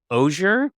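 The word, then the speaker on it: Auger: give you his name his name is Gerald ozier is how you say it that's not how you spell it uh but I'm gonna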